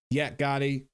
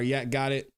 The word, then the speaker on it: Yak Gotti: response to the defendant Yak Gotti or Yak got it I said it right the first time yet got motion to